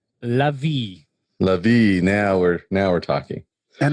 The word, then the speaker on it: Lavi: Except for it's not Lavi. What is it? Eliav? How do you say your last name? Lavi.